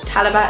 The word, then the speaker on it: talabat: because I'm a weirdo talabat talabat is how you say it it names all the